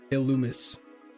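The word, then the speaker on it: Illumise: The E is silent. Illumis.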